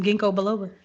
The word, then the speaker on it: ginkgo biloba: get you some ginkgo biloba.